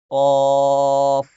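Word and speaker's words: ق: ওই জিহ্বার গোড়ার উপরে বরাবর উপরে যে তালু, ওই তালুর সাথে জিহ্বার গোড়া লাগান। লাগানোর পরে উচ্চারণ করেন কফ, কফ, কফ।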